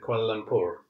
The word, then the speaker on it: Kuala Lumpur: Because in India, I've always said Kuala Lumpur with the proper pronounced R, but then that's how Indians do it. Indians roll their R's quite a lot.